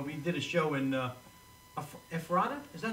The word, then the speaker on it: Ephrata: In fact, Tony and I, we did a show in Ephrata? Is that how you pronounce it? Ephrata, Pennsylvania.